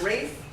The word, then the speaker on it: Ralph: So the first thing to know is that Rafe Vaughan Williams, and his name is pronounced Rafe, even though it's not spelled like Ralph, it is Rafe Vaughan Williams.